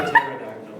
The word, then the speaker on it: pterodactyl: So it's like the P in pterodactyl. the P and it's the pterodactyl. No, it's pterodactyl.